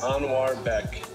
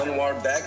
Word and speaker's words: Anuarbek: Properly, it's pronounced Anuarbek. So it's not like a rolled R? It's not R? I guess it can be. The way I've told people, like, we pronounce this, like, A-N-W-A-R, Anwar. Yeah. Anuarbek. Like, the root of my name is Anwar, and then Beck is, like, used to be a surname back in the olden days Beck.